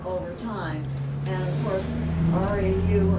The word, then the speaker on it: Rau: And of course, RAU and RAUH were German sort of spellings and pronounced Rau. But then they started spelling it ROWE. And so by the time they got to Western New York, it's Row. That's right.